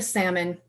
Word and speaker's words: salmon: Fine, I'll eat the salmon. She pronounced the L when she said it.